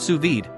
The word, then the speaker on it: sous vide: C 0.2 F accuracy what to cook suid pronounced suid cooking offers the perfect level of dness for